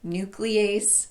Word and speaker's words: nuclease: might also run across some words that are spelled with an e-a-s-e ending but are pronounced EAS these would include yuriase cases protease nuclease and permease I wouldn't worry about